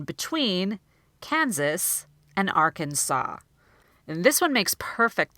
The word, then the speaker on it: Arkansas: they've heard it more and then they'll look at this second word and say Arkansas and I've had students who have been saying it that way for years instead of saying Arkansas so by bringing this